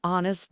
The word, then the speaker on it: honest: It is used with singular, countable nouns that begin with a vowel sound, and also with some words where the H is silent, like an hour or an honest man.